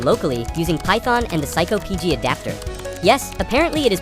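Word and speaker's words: psycopg: To model and develop the database, I started by writing the code locally using Python and the psycho PG adapter. Yes, apparently it is pronounced psycho PG, which is exactly my level of emotional stability.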